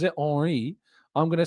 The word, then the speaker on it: Henry: If he pronounces it Henri, I'm going to say Thierry Henry.